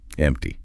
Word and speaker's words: empty: And if that drawer is empty, notice the P sound. It's almost silent. Empty.